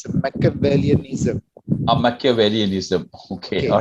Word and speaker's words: Machiavellianism: It's actually pronounced as Machiavellianism.